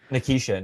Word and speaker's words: Nikishin: Nikishin, yeah.